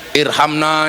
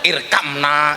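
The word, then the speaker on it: ارحمنا: Irhamna ya arhamarahimin. Orang dulu bacanya irkamna ya arkamarimin.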